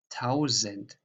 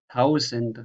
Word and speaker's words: tausend: So how you pronounce just one S. That is here, for example, the journey, die Reise, or lesen, or tausend. So this is a normal Z, tausend, Reise, lesen.